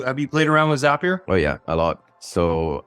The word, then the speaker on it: Zapier: and your first-party online ordering systems tools like zapier or excuse me you know what I've been corrected on this several times it's pronounced zapier you know it's spelled zapier and I've been